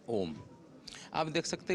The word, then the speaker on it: ओम: हम उसको देखेंगे, ये ओ और ये डट जब हम उच्चारण करेंगे ये होता है ओम।